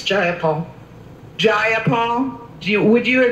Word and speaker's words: Jayapal: you agree with miss j paul that there was no takeover it was just giant paul if you're gonna say my name please say it right it's jayapal jayapal do you would